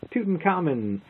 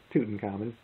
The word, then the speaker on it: Tutankhamun: And the last game we'll take a look at is Tutankhamun, or Tutankhamun, depends on how you want to pronounce it. I believe it's Tutankhamun, although it's King Tut, whatever.